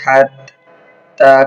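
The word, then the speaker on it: حتى: হাত্তা, হাতা জবর হাত, তা খারা জবর তা, এক আলিফ টান। হাত্তা, হাত্তা। হা হলকের মধ্যখান থেকে উচ্চারণ হবে।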